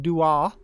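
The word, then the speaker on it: Dooagh: It's pronounced Dua by the Bog Road.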